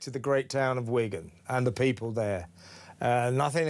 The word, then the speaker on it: Wigan: I'm from Wigan, and it's Wigan, as we pronounce it.